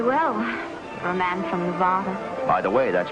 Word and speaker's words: Nevada: Only the dreadful flat ah is correct. Among the natives, perhaps. I just thought you might like to know, in case you go to Nevada.